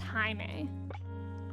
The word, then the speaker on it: Jaime: I love the name Jaime. It's spelled Jaime, so it kind of looks like Jamie, but it's pronounced Jaime.